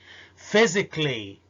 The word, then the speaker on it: physically: physically الصفة physical والصفة فوق كانت logical، لكن لما بحولها إلى adverb ظرف أو حال بتتشال ال A من النطق فبتبقى logically and physically.